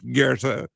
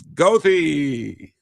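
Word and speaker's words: Goethe: you know and and for the German students who see g o e t he e it is not Gera it's GOI you know as someone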